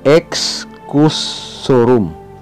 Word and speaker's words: Excusorum: Before other vowels, X has the ordinary hard sound of the letters composing it. Kayo na bahala pong umintindi sa Tagalog, hindi ko rin alam. Halimbawa, Excusorum. Ito ay Excusorum.